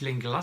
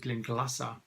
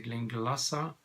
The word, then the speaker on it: Glenglassaugh: the gleamed Lhasa distillery I always thought it was think it is lingula so but then the guys at their distillery say is it now you pronounce it clink lhasa so now I know better they Glinka lhasa thoughtful